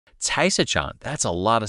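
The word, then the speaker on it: 菜市场: 菜市场菜市场菜市场菜市场 Caisachan, that's a lot of syllables for market.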